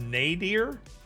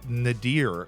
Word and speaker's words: nadir: I love making people's days dude let's get word of the day nadir great word nadir now it's pronounced nadir I thought it was nadir my entire life nadir simple word refers to